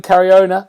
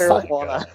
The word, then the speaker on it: Caruana: Is Mr. William Cariona. I've said your name wrong again, William. It's Caruana. Caruana.